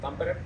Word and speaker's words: Tampere: One of them is how do you pronounce Tampere? Tampere, Yes, and also Helsinki, obviously, and then Turku.